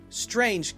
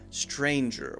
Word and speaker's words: Strange: strange make sure you say just a J sound and nothing else don't add an ER I've heard a couple people add doctor stranger stranger with an extra sound after it strange should be a